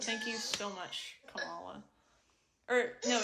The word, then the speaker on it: Kamala: I would smooch Kamala Harris and be like, babe, stop being a...